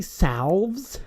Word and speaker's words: salve: Do you have any salves? I really like to overpronounce that L because you're not supposed to really pronounce it at all. Salve. What's supposed to be salves? Salves. Like savage.